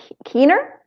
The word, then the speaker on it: Keener: I believe the name would be pronounced Keener.